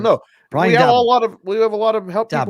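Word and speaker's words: Daboll: How do you say the Giants guy's coach's name? Is it Dabble? Dabble. Brian Dabble. Right.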